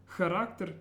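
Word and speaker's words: характер: Charakter means character. And watch that at the beginning it's a ch sound, charakter.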